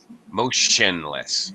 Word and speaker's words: motionless: when you see this the T is pronounced like sh actually not like a t at all mo motionless motionless motionless motionless yeah